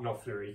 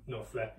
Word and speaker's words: Knopfler: Knopfler. Yeah. There's another funny one to say with the silent K and N and Knopfler, all that.